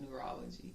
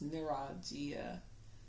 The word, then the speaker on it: neuralgia: Oh my gosh, not neurology. It's neuralgia.